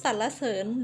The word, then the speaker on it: สรรเสริญ: มา นะ คะ คำ ว่า สรรเสริญ ภรรยา หรือ สาระ เสิน หรือ ว่า พันยา นะ คะ คำ บาง คำ